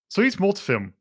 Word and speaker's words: Soyuzmultfilm: because I am not super familiar uh-huh Russian pronunciation I in my enemy by okay I got it here soyuzmultfilm I which is soo y uz m UL